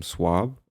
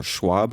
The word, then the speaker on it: Schwab: Our friend Jim is talking about Charles M. Schwab, or Schwab, I said it wrong, Schwab, Schwab, Schwab.